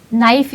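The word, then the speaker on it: knife: हम नाइफ की जो स्पेलिंग शुरू होती है के से शुरू होती है। हम जबकि अगर आप उसको प्रोनाउंस करेंगे तो नाइफ तो एन से शुरू ही होनी चाहिए।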